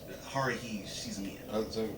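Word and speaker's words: Haruhi Suzumiya: And I said the name wrong. Haruhi Shizumiya. But keep on.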